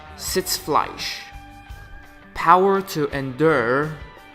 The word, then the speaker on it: Sitzfleisch: So let me get the actual pronunciation here. Sitzfleisch. Sitzfleisch. Sitzfleisch. Sitzfleisch.